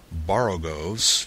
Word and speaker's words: borogoves: rhyme with groves again the first o in borogoves is pronounced like the o in borrow i have heard people